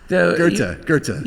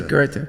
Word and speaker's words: Goethe: Goethe. Yeah, we'll just say Goethe.